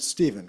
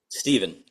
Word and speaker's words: Stefan: this many years, but your name is spelled Stefan, but you pronounce it Stephen, correct? Yeah, it can be pronounced either way. Well, which do you say when you introduce yourself? Stephen. Okay, well, that's what we're going with then, Yeah, Stefan's more like the European pronunciation as far as I know.